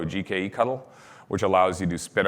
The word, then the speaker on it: gkectl: gcloud swaps out for GKE CTL, so GKE Cuttle, which allows you to spin up a new cluster, and that's how you deploy user clusters inside the environment.